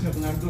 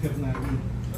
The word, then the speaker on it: Hernando: the Supreme Court saying My name is hernando not hernani what are your personal